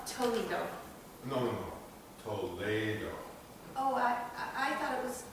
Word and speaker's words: Toledo: You see, Castilian Spanish, you pronounce different than English.